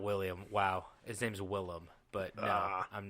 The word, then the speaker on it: Willem: You said William Dafoe in the Yeah. beginning, and I said his name's not William Dafoe. His name's Willem Dafoe.